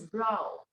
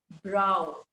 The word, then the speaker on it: brow: wrinkling of his brow it is not a bro the pronunciation of this word is the pronunciation of this word is brow you people say i broke that is wrong it is eyebrow okay so make this correction